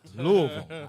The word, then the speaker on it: Louisville: louisville kentucky man you gotta say it right louisville actually it right louisville that's how we know